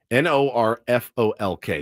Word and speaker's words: Norfolk: How do you pronounce Norf? It's Nor. Now, this is Okay, this might get me. N O R F O L K.